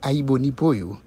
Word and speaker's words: Aïbonibo: Eh bien, famille qui sur Radio Aïbonibo, qui sur belle page Facebook que nous gagnons, là où tapez Radio AI, Jean-Wel prononcé, yon grain A, yon grain I, Aïbo, Nibo.